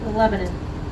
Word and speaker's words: Lebanon: us, there is a city that they call Lebanon. It is spelled Lebanon, people, but they spell it, or they pronounce it Lebanon.